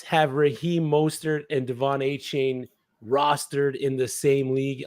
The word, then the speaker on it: Achane: He asked to be pronounced Achan.